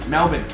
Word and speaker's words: Melbourne: to and yet no not melbourne melbourne melbourne uh murray m-e-l-b-i-n is the best way to figure out how to pronounce that so i don't